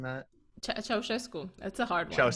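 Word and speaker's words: Ceaușescu: I mean, Romania, so that would have been I'm Cusco, am I pronouncing that? Ceausescu.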